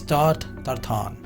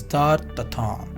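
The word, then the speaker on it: tarte Tatin: कैसे होगा इसका spelling, but literally the French pronunciation of this is tart tartan. A pastry dessert served upside down to show the fruit and the caramel sauce. So pronunciation is tart tartan.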